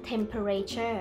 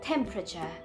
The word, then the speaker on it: temperature: ะ ไ ม่ อ่ า น ว่ า temperature แ ต่ เ ร า จ ะ อ่ า น ว่ า temperature เ ร า จ ะ เ น้ น